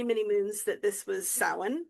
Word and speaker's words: Samhain: And actually, I've known for many, many moons that this was Samhain, not Samhain.